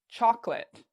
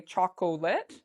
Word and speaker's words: chocolate: here the word chocolate many students don't know that this part is silent we don't say it so many students will say chocolate but it's actually chocolate chocolate okay it's two parts to that word chocolate so that's how